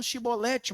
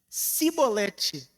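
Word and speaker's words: chibolete: E no seu falar, o som de CH se pronunciava em S, de tal modo que eles não conseguiriam evitar ser descobertos. Eles não falariam shibolete, mas cibolete.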